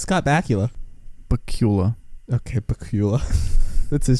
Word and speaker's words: Bakula: Scott Bakula, handsome man. What a last name. Bakula, it's a great name. One time my mom... Bakula? What? Bakula? No, it's Scott Bakula.